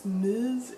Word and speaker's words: Ms: one uh just got miss marvel so or ms i know i'm saying it wrong i still say miss but i know it's mooz isn't it i don't know i'm